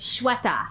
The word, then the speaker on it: Sweta: I'm getting there I have no right to mispronounce people's names especially with my name being the way that it is Shweta Yeah right it's not shut up but it